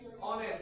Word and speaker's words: honest: পরে ও এম ই এস ছিল আমরা কি হনেস্ট বলি না আমরা কি উচ্চারণ করি honest তাহলে উচ্চারণটা কার আছে এস টি আই কার